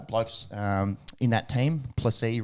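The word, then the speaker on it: Plessis: um in that team placee rhymes with pepsi uh it's pretty [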